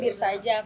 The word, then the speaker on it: beersajak: Jadi Bir Sajak kalau dalam pronunciation Bener. bahasa Inggris ya.